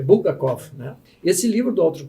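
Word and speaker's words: Булгаков: Doutor Alessio colocou aqui no chat que um escritor da era soviética muito interessante é Bulgakov. É assim que pronuncia?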